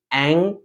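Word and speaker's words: ऐं: उच्चारण कर रहे हैं उसमें जैसे ंग है बहुत लोग उसको एम पढ़ते हैं है ना म नहीं लगाना एंग ग का उच्चारण आपके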